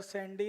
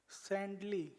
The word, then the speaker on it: सैंडली: अच्छा सर सैंडी नहीं, क्या नाम? अच्छा सैंडली है मेरा नेम।